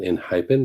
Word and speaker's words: ENHYPEN: I pronounce it Enhypen because Enhypen is the English word, but Big